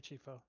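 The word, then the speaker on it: Chieffo: Chifo? Yes, Mary Chifo.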